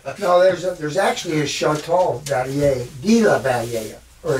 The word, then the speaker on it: Valliere: We don't pronounce the French word. We just go Valliere. Valliere.